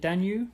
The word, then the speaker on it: Danube: N were talking earlier is that how you pronounce it danu yeah Dan that's right we got it's spel it's spelled with a B isn't it so you get quite confused with it yeah that's right um